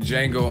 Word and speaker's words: Django: up my I'm fuckin Django Unchained the D is silent like I'm a fucking